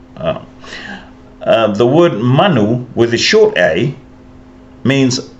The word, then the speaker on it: manu: So I'll put a macron up here over the a, and it's as in the word Samoa. the long A, so Manu.